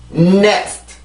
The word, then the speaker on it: next: 자, 발음해 볼게요. next.